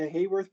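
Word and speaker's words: Haworth: the next one is a hogwarts projection sometimes pronounced a hayworth projection depending on who's saying the word i call it the hogworth projection i like how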